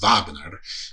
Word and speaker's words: Wagner: Um, so they had a they had a recurrent werewolf named Vagner, which but he's it's pronounced it's spelled Wagner, but it's pronounced Vagner.